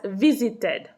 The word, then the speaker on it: visited: The verbs in English ending in T or D, whenever we put them in the past tense or in the past participle, which means that we add ed to the end of the verb, you hear the pronunciation ed at the end. So has visited.